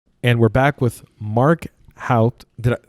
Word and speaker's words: Houpt: And we're back with Mark Houpt.